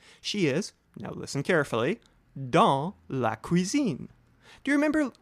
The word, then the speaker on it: dans: vocabulary is the word dans, spelled D-A-N-S. Remember not to pronounce the last letter, S, or in this case, the next to the last letter, N, and speak the word through your nose.